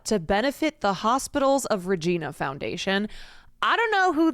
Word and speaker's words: Regina: of Regina Foundation FY it's pronounced like oh Regina Regina uh didn't do their